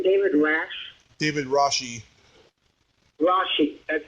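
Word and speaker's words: Rasche: it was the actor's name David rash David rashi rashi that's how you pronounce it yeah oh yeah he was very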